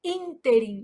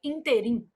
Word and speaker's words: ínterim: Então, a palavra interim apresenta erro de prosódia quando pronunciada como oxítona, que aí a pronúncia seria interim.